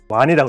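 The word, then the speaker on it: 王仁: 이때는 그다라가라 왕니 왕인 박사인데 와이라고 읽어야 돼요.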